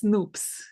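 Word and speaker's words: nupps: Um, the noops that you're using, it's actually not naps, it's noops. It's No. rhymes with soup.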